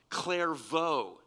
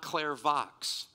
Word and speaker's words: Clairvaux: me out on bernardov clairvaux it's not claire vox okay very good i